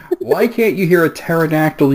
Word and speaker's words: pterodactyl: can't you hear a pterodactyl using the bathroom because the P is silent come on number sip